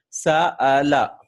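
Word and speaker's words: سأل: For example, Sa'ala, right? Sa'ala. See, this is Hamzatul Qata. How am I pronouncing it? Sa'ala, right?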